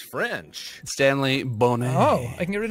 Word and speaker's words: Stanley Boner: I'm guessing Bob is Stanley Boner. It's pronounced Bonet. Ah. It's French. Stanley Bonet.